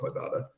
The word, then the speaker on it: Ibotta: Am I pronouncing Ibotta correctly? Nailed it. Yes, it's a bad pun based on I bought a bag of groceries, for example.